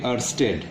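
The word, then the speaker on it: Oersted: बट इन the year 1820 एक scientist थे अर्स्टेड, यहाँ पे ओ साइलेंट है, अर्स्टेड, ये एक एक्सपेरिमेंट परफॉर्म किया।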